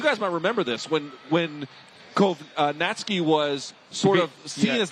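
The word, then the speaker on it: Kownacki: I've heard of Kovnatski. It's Kovnatski. That's how I'm going to say it, against Demirzin.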